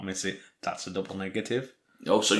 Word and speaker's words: Nisei: episode 9 and it's entitled miss I I think that's a pronounces yeah miss I or Nisei and directed by David